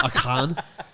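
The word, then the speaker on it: Achan: like uh akan aiken sometimes we say aiken like clay aiken but it's really pronounced like akan okay now i'm picturing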